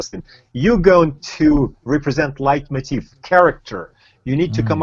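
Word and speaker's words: leitmotif: Tivo late motive light I've heard it is pronounced light motif yeah okay he went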